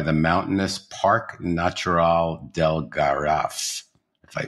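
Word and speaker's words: Garraf: Barcelona backed by the mountainous Park natural Del Gara if I pronounce that right you did thank you you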